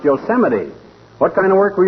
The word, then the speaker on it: Yosemite: Park uh huge am I no but not Yosemite Old Timer that's pronounced Yosemite what kind of work were you doing ruin